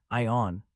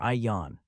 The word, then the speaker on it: Ian: Is it pronounced like Ion or Ian? I accept both pronunciations.